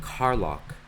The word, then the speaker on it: Carlock: 1710 and another name Carlock and yes that's exactly how you would think it's spelled spelled CA RL Ock as in car lock like locking your car they fought in the